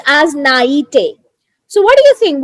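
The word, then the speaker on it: naïveté: this is actually uh a so it's it's pronounced as naity so what do you think what's the meaning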